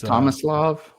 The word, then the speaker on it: Tomislav: It's Tomislav. Yeah, Tomislav. Which is apparently, I looked it up. It's a fairly common name in Croatia.